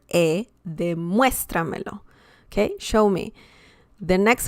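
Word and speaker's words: demuéstramelo: verb plus two pronouns okay so for example de muestra melo de muestra melo so that's how you pronounce that word okay and that means show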